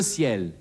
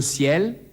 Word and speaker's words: ciel: Vor einem E oder vor einem I wird der Buchstabe C wie ein S ausgesprochen. Ce ciel, ce cidre, ces cigarettes.